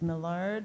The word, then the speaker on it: Milar: our next speller is milar from Frederick classical Charter School oh good you pronounced my name right no one ever does anyway um word